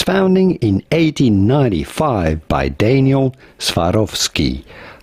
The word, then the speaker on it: Swarovski: in 1895 by Daniel Swarovski. How do you go about pronouncing it in English? Swarovski. Swarovski. Swarovski. Swar of ski.